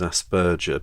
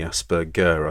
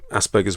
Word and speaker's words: Asperger: mention Dr Hans Asperger actually I mispronounce it as Asperger but it's actually Asperger I think an Austrian doctor Asperger's